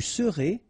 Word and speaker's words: serez: Je serai, tu seras, final S not pronounced, il sera, elle sera, nous serons, final S not pronounced, vous serez, a Z at the end, et serez, ils seront, final T not pronounced, elles seront.